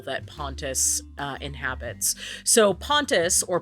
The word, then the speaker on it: Pontus: pontus uh inhabits so pontus or pontos is the Greek primordial song Oh yes some people pronounce that pontos yeah um disagree oh